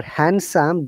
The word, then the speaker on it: handsome: roses for a okay remember handsome d is always silent many people do not